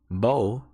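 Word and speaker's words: בוא: hebrew the equivalent here is h935 it is pronounced bo it's consists of three hebrew letters the bet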